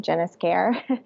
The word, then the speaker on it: Esquer: My username was Jen_ES_care, because that's how you say my name, Jennis Care.